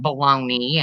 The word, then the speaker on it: bologna: Wonder why they call it baloney and not bologna. Or I've wondered that or too. bologna. Can I Bologna. get a bologna sandwich? Bologna is Bologna. Bologna is the way it is spelled.